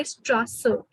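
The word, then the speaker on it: Straße: so it's set set and this is the road so in german we say strasser so strasser and the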